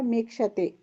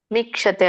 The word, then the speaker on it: ಮೀಕ್ಷತೆ: ಭಾವಮವ್ಯಯಂ ಭಾವಮವ್ಯಭಾವ ವ್ಯಯ ಮೀಕ್ಷತೆ ಮಿಕ್ಷತೆ ಅಲ್ಲ ಮೀಕ್ಷತೆ ಭಾವಮವ್ಯಯ ಮೀಕ್ಷತೆ ಯಮವ್ಯಯ ಮೀಕ್ಷತೆ ಇಲ್ಲ ಮೀಕ್ಷತೆ ದೀರ್ಘ ಇದೆಯಲ್ಲ ಅಲ್ಲಿ ಮಾತಾಜಿ ಮೀಕ್ಷತೆ ಸರಿ